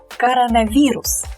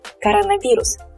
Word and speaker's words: коронавирус: So this O is definitely unstressed, but since it's kind of two words within one word, we pronounce them separately. So we pronounce these two roots, these two stems separately. Coronavirus.